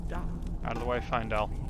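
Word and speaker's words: Faendal: Out of the way, Findel. It may be pronounced Feindel, but it's A-E, which in Latin is an I sound, so I'm just going with that.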